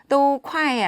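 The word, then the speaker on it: 都快: 그러므로 " 도쿠아이 " 라고 말 할 때 는 " 도우 " 를 짧게 발음 하는 것 이 좋습니다 .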